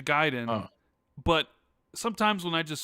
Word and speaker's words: Gaiden: what it is I I know the proper way to say well yeah ninja giden but sometimes when I